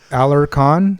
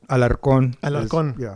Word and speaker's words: Alarcón: those um it's me it's usually alar khan which i guess yeah you sound it out but alarcon yeah yeah it's rare